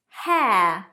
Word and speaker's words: hair: Hair, air, as in the air you breathe, hair.